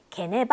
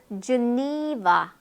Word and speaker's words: Geneva: Geneva, 네, 게네바 아니에요. 우리도 제네바라고 하고 Geneva. 네, 니의 강세가 있어요.